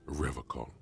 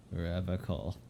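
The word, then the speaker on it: Revachol: He pronounces Revocol with a hard K. Serious question time. This man is no innocent. No one is. Revocol. I like to pronounce it the hard.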